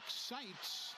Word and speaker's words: Seitz: Then a miss by Blake Sites. No relation to JSU's athletic director Greg Sites, though they do spell it the same way, SEITZ, but no relation.